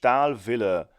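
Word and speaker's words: Stahlwille: old wrench the name of the company is pronounced al Villa style that's German for steel and Villa is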